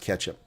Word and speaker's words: catsup: Well, but ketchup is also spelled catsup. It's spelled catsup here in America. Catsup or ketchup. Yeah, and it's both both pronounced pronounced ketchup.